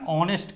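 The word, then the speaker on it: honest: इसका उच्चारण हम क्या कर रहे हैं, हम उच्चारण ऑनेस्ट कर रहे हैं, ऑनेस्ट आवर, ठीक है।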